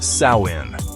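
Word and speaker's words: Samhain: The night before, October 31st, they celebrated a festival called Samhine, pronounced Sawin.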